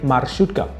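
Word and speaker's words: маршрутка: use my shoot gun you have to put the emphasis on the letter r because in russia r is pronounced you know you have to roll your tongue i had to practice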